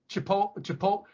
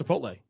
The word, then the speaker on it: Chipotle: instead of theater to make fun of people mispronouncing it. It's the same way I call that burrito shop Chipotle instead of Chipotle. It's Chipotle.